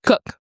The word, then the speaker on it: Koch: So it says here that Christina is it Koch or Cook? Cook. Okay cuz it spelled like Koch brothers.